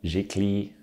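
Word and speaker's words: giclée: be produced was uh it's a french word it's a jiggly print i think is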